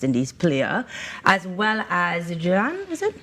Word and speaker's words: Jhulan: and former West Indies player, as well as Jhulan, is it? How do I pronounce? Yeah, Jhulan.